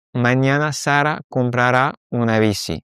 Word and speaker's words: comprará: Attention, à chaque fois, on va avoir un petit accent sur le A et sur le E de compraré. Comprará, compraré, c'est pour ça qu'on a cette accentuation sur la dernière syllabe.